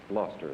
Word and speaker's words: Gloucester: a clock the gloucester banjo model by sessions gloucester is the correct pronunciation and number four is pottery a service